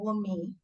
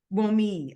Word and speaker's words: Wunmi: And so it's Wunmi. That's good enough. Oh, It's good. close. The N is silent, so Wunmi. Wunmi.